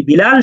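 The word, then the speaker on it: ب: যে বে তে সে আপনি যদি বা এর উচ্চারণটাকে বে বলেন তাহলে কিন্তু ওই যে বিল্লালকে বাল্লাল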